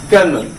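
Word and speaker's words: colonel: आप याद रखने के लिए इसे कॉलोनल करके भी याद रख सकते हैं, लेकिन इसका प्रोनाउंसिएशन क्या होगा, कर्नल।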